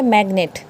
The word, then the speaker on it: magnet: बोलता है अगर जी किसी वर्ड के मिडल में आ जाता है तो हम वहाँ पे उसको प्रोनाउंस करेंगे।